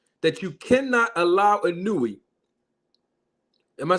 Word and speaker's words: Inoue: And what's real right now is that Inoue moved up to this weight division, and now he is unified as the WBC and WBO champion of the world.